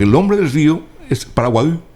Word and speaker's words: Paraguay: Porque el nombre del río es Paraguay. Pero como los españoles no podían pronunciar la I gutural, la Y. entonces decían Paraguay. Entonces quedó Paraguay.